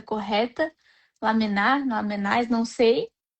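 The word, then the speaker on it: Lamennais: E aí o espírito que eu não sei como é que é a pronúncia correta. Lamenaram, não sei. Lamené, lamené, quase trouxe a resposta pra gente.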